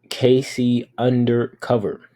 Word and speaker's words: KCunderc0v3r: Her name is Casey Undercover with a 3 and 0 in her name. So it is Casey Undercover. Cover being spelled C0V3R.